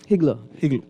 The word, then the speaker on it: higgler: thing that Jamaica call Igla work. If they doing Igla work, I don't believe. Higler. Well, they don't pronounce the H.